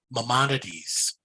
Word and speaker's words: Maimonides: It's pronounced Maimonides, or just tell the ambulance driver you want to live.